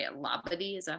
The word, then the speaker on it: Labadee: Labadee, is that how you say it? No idea. Anyway, Brianna, how do I say it? You've probably done the pronunciation Google. Yeah, Labadee.